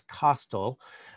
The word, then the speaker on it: Costle: the time douglas costell i've heard his name pronounced a number of different ways over the years but in his 2019 obituary in the new york times they said that it was pronounced to rhyme with hostile basically that it's um not